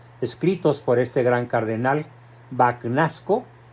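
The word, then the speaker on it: Bagnasco: por este gran cardenal banasco O tal vez se pronuncia en italiano bañasco sí Y dice Espero que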